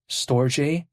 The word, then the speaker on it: Storj: also there's something called Storj. It's spelled like STORJ, but then sometimes people call it Storj, some people call it Storage, tomato.